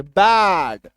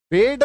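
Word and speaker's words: bad: तो जब दो कोसोनेंट के बीच में हमारा ए आ जाए तो उसका उच्चारण क्या होता है? बड़ी इकार की मात्रा। सिमिलरली देखो इसे बैड है ना? बैड बेड नहीं बैड।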